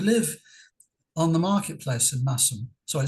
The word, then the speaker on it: Masham: on the marketplace in massam sorry it's it's pronounced massam by the way not masham okay thank you for